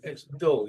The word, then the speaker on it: dull: It's dull. You pronounced it correctly, but some people pronounce it like double O. So somebody is dull.